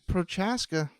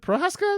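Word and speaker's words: Procházka: But Prochaska, that's not too bad. It is easy. You just kind of don't say the C there.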